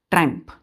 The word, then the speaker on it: triumph: क्या पढ़ते हैं इसको, ट्रैम्प, ट्रम्प। इसको बच्चों देखिए, इसको हम ट्रम्प पढ़ते हैं, आई यहाँ पे साइलेंट होता है, ट्रम्प, ट्रैम्प।